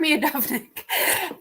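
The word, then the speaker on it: Miodownik: knew how to say this a minute ago me adopts me adopt nick there we go mark me a dominic um so mark mudognik is a professor um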